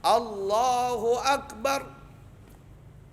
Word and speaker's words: Allahu Akbar: Ada orang membaca, maksudnya ada imam membacanya begini. Kalau takbiratul ihram bisa berbahaya nih, bisa membatalkan sholat. Allah Akbar. Hunya hilang.